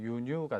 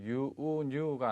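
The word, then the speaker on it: 輸入: 정답 A의 유뉴가 되겠죠. 자, 요 단어는 발음을 주의를 하셔야 됩니다. 장음으로 잘못 알고 계신 분들이 의외로 많은데 유우뉴가 아닌 유뉴, 짧게 유가 된다는 거 꼭 기억을 하시기 바라겠습니다.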